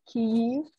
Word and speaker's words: Kyiv: So it's key U. It's that really long U that makes it a Ukrainian pronunciation. And that's sometimes hard to say when you're speaking really fast, like I do when I babble pretty much, but that's both are correct technically. But it is preferred to say, I at least prefer to say Kyiv, and to spell Kyiv like this.